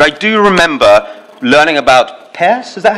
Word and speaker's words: Peirce: I could never pass any philosophy exam, but I do remember learning about Peirce, is that how you pronounce him? Yeah. Peirce, Charles Peirce.